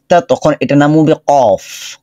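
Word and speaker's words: قاف: আচ্ছা, কফের মাখরাজ জিহ্বার গোড়া উপর দিকে চলে যাবে, ধাক্কা হবে, আওয়াজটা মোটা হবে, কফের উচ্চারণ আওয়াজ মোটা হবে।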